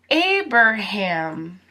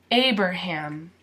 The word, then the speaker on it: Abraham: you hear a per ham most Americans don't pronounce that a a per ham a bird ham so a bird ham Abraham Abraham now his last name Lincoln Lincoln and